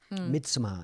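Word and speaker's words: Midsommar: this film all right it's called mid samar and it's spelled s-u-m-m-a-r midsummer it's about a group of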